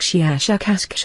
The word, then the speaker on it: Shiashukash: human letters something like shiashukash for the very very strong pronunciation of the s h and k sounds we have no four